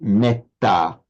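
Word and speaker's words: mettā: Whereas in parley, because of that double consonant, it's pronounced with a short e.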